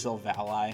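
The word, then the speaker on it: Sylveon: kiss my avatar being so volley i think i've been saying it wrong a lot of people say it's silva ally which makes sense too either way and then in the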